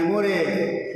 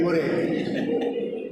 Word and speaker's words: Murray: All of them said, Andy Murray, Murray, hip hip hooray, like that Murray.